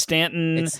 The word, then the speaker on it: Staunton: know how to pronounce staunton is pronounced stanton and waynesboro is like